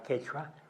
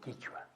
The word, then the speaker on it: quechua: Por eso aquí se llama quechua, porque aquí se pronuncia quechua. En cambio, en Ecuador no tienen la Q esa, y por lo tanto dicen quichua.